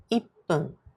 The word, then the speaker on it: ippun: For example, 1 minute is ippun. 5 minutes is gofun. Let's learn how to say them correctly. The pronunciation changes with some numbers. Listen and repeat after me.